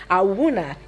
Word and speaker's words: Awuna: One of those spellings where they don't look like how they sound. That's what this name is. It doesn't look how it sounds or how it's supposed to be pronounced.